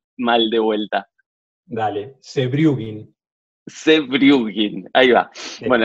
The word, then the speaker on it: Sewjrugin: Pronuncialo vos el apellido, así no lo pronuncio mal de vuelta. Dale, Sebrugin.